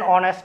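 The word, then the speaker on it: honest: Example, an অনেস্ট ম্যান, এখানে আমরা দেখতে পাচ্ছি অনেস্ট ও দিয়ে শুরু হলেও এর উচ্চারণ এইচ না, এইচ দিয়ে শুরু হলেও এর উচ্চারণ এইচ না হয়ে ও হয়েছে, অ্যান অনেস্ট ম্যান।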